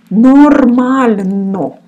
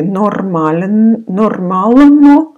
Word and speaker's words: нормально: This in Russian called soft sign, and it makes the letter which it follows softer. you don't pronounce it. So just when you see it, recognize, but you don't need, mostly also for the grammar, for pronunciation a little bit and for the grammar you will use. So it's called soft sign. Нормально. So without this soft sign, it would be нормально. With softer, нормально.